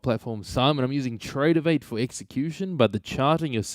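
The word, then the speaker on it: Tradovate: Tradeovate. Yeah, phonetically, that's correct. Tradeovate.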